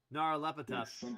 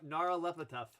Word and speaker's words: Nyarlathotep: I can't pronounce the guy's name yet because it's Nyarlathotep. Something Ihotep. Yeah. Yep. Nyarlathotep.